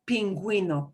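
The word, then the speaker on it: pingüino: you is silent but go ahead and pronounce the u it doesn't happen often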